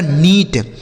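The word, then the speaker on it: neat: यन ई ए टी, यन से हो गया नो, इस ई और ए का उच्चारण बड़ी ई की मात्रा टी से ट, इसे पढ़ा जाएगा नीट।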